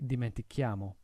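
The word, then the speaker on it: dimentichiamo: of an i and a c would give us a soft sound we want to add the h and so it becomes dimenti chiamo the same thing happens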